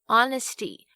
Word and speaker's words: honesty: H 就是其中一个所谓的这个 silent letter 无声字母，它很调皮哦，有时候跟法文一样不发音，有时候呢又一定要发出像小时候老师教我们的这个 H、hat 这样子。所以到底哪些时候 H 要发音，什么时候又不发音呢？几个比较常见的像是 hour 小时， honest 和 honesty 诚实的和诚实， honor 荣誉，跟 heir 继承人，这些都是以 H 开头但是不发音的例子。那另外如果像是 RH 开头的话，这个 H 也是不发音哦，像是动物园里面的犀牛 Rhino 就是一个活生生的例子， R-H-I-N-O Rhino。